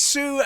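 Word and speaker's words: Sioux: buddy and it's name it's Sue spelled like the Indian tribe so SI I yeah right there s i o u x uh when I was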